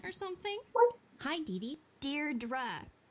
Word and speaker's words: Deirdre: something well hi didi Deirdre I know it's got that tricky second syllable but I figured it